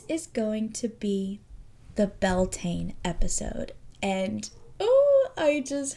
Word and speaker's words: Beltane: This also in um Irish is pronounced Beltina. So if you are listening and are familiar with Irish traditions, it may sound different than Beltain. It's like kind of belina, kind of different like that.